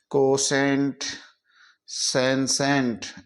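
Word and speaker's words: कौशस: का उच्चारण निकालते हैं जब टी के बाद में आईओ आए तो टी को से पढ़ते हैं सी ए यू टी आई ओ यू एस कौ सस टी कोश पड़ेंगे कौस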